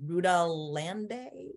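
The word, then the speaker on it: Rudá Iandê: don't know how to say his name correctly rudolande oh yeah totally that's it okay with my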